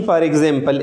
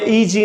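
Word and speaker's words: e.g.: Mean फॉर एग्ज़ाम्पल, एग्जाम्पली gratia, इसको हमें ई.जी. नहीं पुकारनी चाहिए, बल्कि we should pronounce it फॉर एग्ज़ाम्पल.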